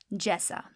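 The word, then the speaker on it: جیسا: Next, let's look at the word jesa. So because it rhymes with aisa, it should be fairly easy to spell.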